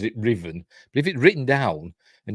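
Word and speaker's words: Ruthven: I shoot the bastard Riven and she she pronounces it Riven if it written down and you didn't know you'd be pronouncing it ruen wouldn't you it's like shoy gatworth the new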